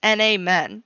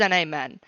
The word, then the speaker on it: NAmen: to pronounce our name it is n a men I said it wrong at the beginning of the episode because Travis's Discord bullied me but it is an amen this is the name